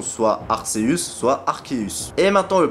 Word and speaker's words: Arceus: Dans tous les cas, ça se prononcera Arc. Par exemple, nous avons la potentielle étymologie de Archaic, bah, qui se prononce Arc, justement, qui signifie ancien en latin. Aussi, il y a Arché qui définit le commencement dans le grec ancien. Et tout le reste des étymologies se prononce tout simplement Arc.